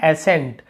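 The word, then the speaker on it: ascent: यहाँ पर भी देखिए एसेंट, एसेंट यानी होता है चढ़ाई, एसेंड, एसेंट, लेकिन यहाँ पे सी का उच्चारण कहीं पे नहीं हो रहा, हम स का उच्चारण कर रहे हैं।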